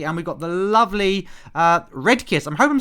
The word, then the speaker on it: Redkeas: Is it Redkeas or Red? How do I pronounce that? Sorry. Well, you can pronounce it Redkeas, actually.